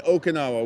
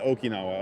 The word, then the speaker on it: Okinawa: Okay, Americans say Okinawa. We say in Japan, Okinawa. Okay, good.